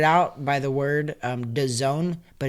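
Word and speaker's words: DAZN: by the word um Doone but it's actually spelled D A z n think of it like this the Zone z o n e it's like it's the Zone it's the Zone Z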